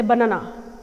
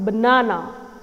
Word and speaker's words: banana: not apple apple banana people say banana it's wrong it's not banana it's banana I'm stressing on the second syllable but no no but